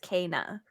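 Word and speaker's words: Kena: right it is pronounced Cana it's like it literally says PSA Cana is pronounced k-a-y hyphen nah it's from their Twitter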